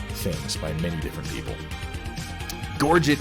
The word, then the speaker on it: gorget: by many different people gorget is one that i stand by because the word was anglicized well over 500 years ago and whether it was originally pronounced in french with a soft tea or not it doesn't matter because gorgic is an english word that means something now neck armor i